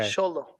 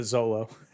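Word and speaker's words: Xolo: it's a thetive of sholo squinkle ah okay sholo you know Americans like shut up yeah yeah SOLO Americans pronounce it Zolo I know but I'm you know he's not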